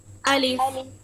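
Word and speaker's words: ألف: প্রথমত দেখেন, আলিফের মধ্যে বাতাসটা বন্ধ থাকে উচ্চারণ করতে, যেমন আ ই উ, একদমই বাতাস বের হবে না। যদি আপনি আহ ইহ এভাবে যদি বলেন অথবা বাতাস বের করেন, তাহলে কিন্তু এটা ভুল উচ্চারণ হবে।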